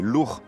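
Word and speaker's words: Lugh: Le premier exemple de dieu similaire ou comparable entre la Gaulle et l'Irlande, ce serait le dieu Lou qu'on devrait prononcer lourd en Irlande, on trouverait où on trouve son équivalent en Gaulle, ce serait Lugous.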